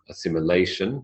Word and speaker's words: assimilation: production sense assimilation so there's the word assimilation assimilation notice in Brackets you've got the schah that unvoiced common sound at the in the penultimate phon and the first phon